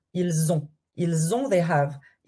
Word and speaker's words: ils ont: Every time you do la liaison with S, it will be like a Z. So, if you have this, ils ont. You want to do like a Z.